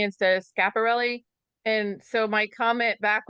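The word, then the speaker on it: Schiaparelli: I had a I had a somebody comment that they couldn't watch me anymore because I mis mispronounced um I said chaperelli instead of scaparelli.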